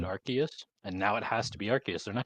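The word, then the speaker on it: Arceus: AR Godus archus well it has to be pronounced archus because in AR of the no yes but because in Legends AR archus the phone they give you is an ark phone and if it was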